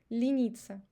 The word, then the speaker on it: лениться: And also in the last word, лениться, you see e is under the stress, and e, the previous e, pronounced as e because it's unstressed, лениться.